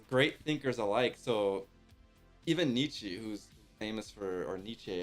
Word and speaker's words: Nietzsche: I know, it's just Nietzsche.